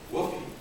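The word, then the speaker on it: WFOE: Woofie is a wholly foreign-owned enterprise, pronounced woofie, and it basically means a 100% subsidiary in China.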